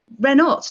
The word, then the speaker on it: Renault: I've just got to stand up for Mary Renault. You know, you have to pronounce her Renault, not Renault.